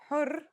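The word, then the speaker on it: حُرّ: For example, here are two words that have the same letters but are pronounced differently and have different meanings because of the difference in voweling. Har means hot, while hur means free. There are other voweling signs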